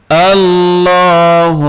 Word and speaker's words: আল্লাহ: রাজিম বিসমিল্লাহি রাহমানির রাহিম আল্লাহু লা ইলাহা আল্লাহু লা ইলাহা আল্লাহ এই যে লফজে আল্লাহ রয়েছে আল্লাহ শব্দ এর লামটা পুর হবে কারণ তার পূর্বে জবর অথবা পেশ থাকলে পুর হয় আল্লাহু লা ইলাহা লা তিন